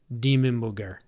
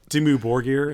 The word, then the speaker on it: Dimmu Borgir: We got DK, how do you pronounce Demon Booger? Demon booger. That's it. Hell It's, yeah. I had a start of my rating, dude. Hell yes. That's how you say it. Dimmu Borgir is how I've always said it.